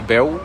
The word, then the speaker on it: Beouw: Je suis un artiste marseillais, mon blaze c'est Beou, ça s'écrit B-E-O-U-W.